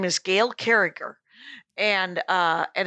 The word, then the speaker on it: Carriger: her name is gail carriger and uh and it's it's uh gilcare and it's it's spelled gil carriger but she goes with a hard g on the second uh g okay so uh so